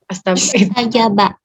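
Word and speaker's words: استجاب: Ini kan dua kata. Fastajaba, karena dia wasol, maka alif hamzah wasol nggak terbaca. Tapi kalau saya hilangkan fa-nya, ini bacanya bagaimana? Astajaba. Itu depannya isim atau benda atau kerja Ustaz? Istajaba. Astajaba. Itu isim atau tanda kerja atau verb ya itu? Istajaba. Istajaba, bacanya istajaba.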